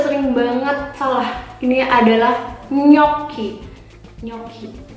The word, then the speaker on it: gnocchi: find GN in Indonesia, when you find GN in Italian, in Indonesia we say like N and Y. Gnocchi. Once again, karena ada double C dan ada huruf H, jadi dibacanya K dengan penekanan. Gnocchi. Correct. So if it's in Indonesia, GN is like NY.